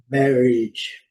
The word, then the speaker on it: marriage: Outra palavra, né, que é o casamento, é uma palavra do dia a dia que a gente tem que estar ciente, é marriage, marriage, lá, sempre marcando o A com som de I nesses casos, tá?